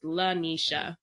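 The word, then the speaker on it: Laneysha: n ey underscore sha and that is Lanisha that's how you say my name hmm dang it nice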